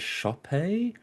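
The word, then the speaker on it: Sope: amazing performance from I think he pronounced it actually as Shopee um shop Dizeru who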